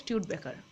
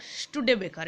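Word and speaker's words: Studebaker: 4 চাকা গাড়ির মতো, সেইগুলোকে বলা হয় স্টিউড বেকার বা স্টুডে বেকার, এরকম উচ্চারণ হয়।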